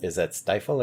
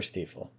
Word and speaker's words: Stiefel: Or is that Stifel or Stiefel? I believe it's Stiefel. I mean, if it were my name, I'd probably pronounce it Stiefel, too. How about Stiefel? Oh, Stiefel. Stiefel is German for boot, according to this wiki article.